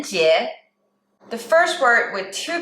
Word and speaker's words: 节: And the last word with one character is 节, 节, second tone.